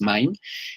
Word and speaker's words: MIME: similar a la inscripción ese mime en español bueno así así se escribe pero es main y que está basada